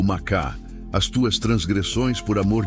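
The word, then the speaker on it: מחה: Para aprofundarmos neste conceito, podemos olhar para a palavra hebraica macha, se pronuncia macá.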